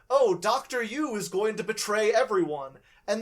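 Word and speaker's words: Yueh: Yu is going to betray everyone. And they say that before you meet Dr. Yu in the story. Yeah. Or a Dr. Yui, is that how it's pronounced?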